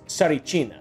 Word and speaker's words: Tsarichina: It's Tsarichina, by the way. Tsarichina. I'm really bad at pronouncing words consistently.